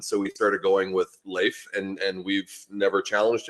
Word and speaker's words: Leif: Swedish and Viking and and so it is Leif L A YF and terms of actual pronunciation so it is Le but the way